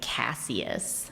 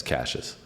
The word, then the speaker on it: Cassius: weird pronouncation cuz like looking at it I would think it's like cassus yeah it's cases that's so strange I